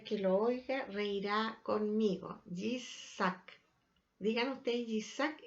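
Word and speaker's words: יצחק: Ahora es interesante que ustedes sepan que si nosotros pronunciamos el nombre de Isaac en hebreo, Yitzhak, es una sonrisa, reirá, ¿ya? Por eso que dice: todo el que lo oiga reirá conmigo, Yitzhak.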